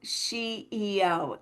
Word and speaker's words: SheEO: of this, the Unstoppable SheEO. Am I saying it right? You She, absolutely are. It is a yes, pun off of CEO.